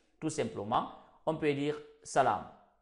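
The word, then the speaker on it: سلام: Tout simplement, on peut dire salam. Salam, c'est ce qui est là. Salam, c'est juste la prononciation qui est là.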